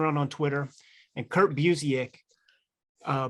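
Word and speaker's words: Busiek: on Twitter and Kurt buik uh buic how how do you say his last name you got right the second time Buck yeah Buck he he [ __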